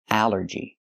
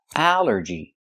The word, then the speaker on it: allergy: But here it makes the a sound. The short a like an apple and black. A allergy. It's three syllables. Allergy. The stress is on the first syllable.